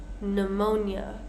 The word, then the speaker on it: pneumonia: Next, with silent P's, we have quite a few words here. We have words like corps, as in the Marine Corps, the Peace Corps. Coup, pneumonia, psychology, receipt, right?